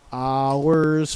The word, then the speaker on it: hours: Some people have pronounced it like two syllables, but in singing we only sing one fle. So not ours flee. Really cut off the o rs, right?